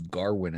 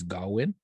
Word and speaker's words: Gawain: I thought it was Garwin at the beginning, but it's Gawain. They kept in the movie. They keep pronouncing it Garwin, but Right?